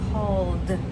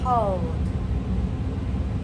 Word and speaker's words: called: And we say called. Called. So the old d sound called we don't say call it.